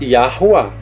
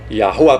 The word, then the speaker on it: Yahuwah: Ali o W é som de U, que é um Vav, e outro A.